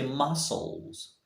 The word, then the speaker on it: muscles: word can you try did you say muscles sorry she is silent so you say muscles muscles look at him